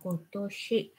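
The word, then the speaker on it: 今年: Và có kim niên, năm nay đọc là kotoshi.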